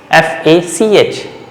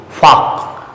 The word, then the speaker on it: Fach: It's plural, but singular is Fach, F-A-C-H, that is also combination with CH but no umlaut, A, Fach, okay, Fach.